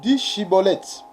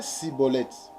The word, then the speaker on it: Schibboleth: Il lui disait alors: eh bien, dis Chiboleth. Et il disait Siboleth, car il ne pouvait pas bien prononcer, sur quoi les hommes